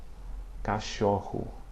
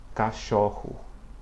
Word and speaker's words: cachorro: The letter double R, or the spelling sequence double R, only appears between vowels in the interior parts of words and has a similar pronunciation to the English H, okay?